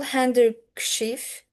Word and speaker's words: handkerchief: Hard to pronounce clusters may leave letters silent. Example, handkerchief.